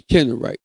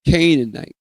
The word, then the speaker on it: Canaanites: The Hittites, the Gargusites, the Amorites, the Kennerites. I'm sorry. I'm sorry. The Canaanites, and the Parizzites. The Parizzites. That's spelled P E R I Z Z Z